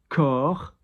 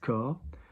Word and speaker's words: corps: Body, corps, we don't pronounce the P or the S, corps.